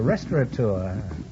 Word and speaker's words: restaurateur: am the owner of a restaurant Oh a restaurateur many people mispronounce didn't say restaurant to it you will